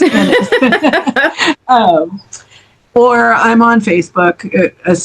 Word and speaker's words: Ennis: And it's not Enos. Somebody used to call me Enos. I'm like, it doesn't rhyme with penis. It's Ennis.